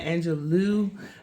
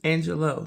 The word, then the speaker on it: Angelou: I believe that's how you pronounce her last name. Some people say Maya Angelou, but I looked it up and apparently it's Angelou.